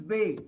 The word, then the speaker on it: ve: And the name of the letter V, it is Bay.